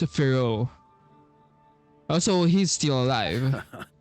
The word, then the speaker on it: Varka: Faru retired years ago, but he still gives me a stern stare every time we meet. Oh, so it's pronounced Firo.